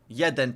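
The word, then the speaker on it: jeden: Yed no pixel. Yed no pixel. How do you say that? Uh or or you say say yes no pixel like there's one pixel. Yeden pixel pixel.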